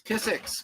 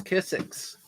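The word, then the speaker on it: Kizik: And they're spelled K-I-Z-I-K. K-I-Z-I-K, and they don't look like it's spelled K-I-Z-I-K, but once you see it, you'll be like, oh yeah, that's Kissick.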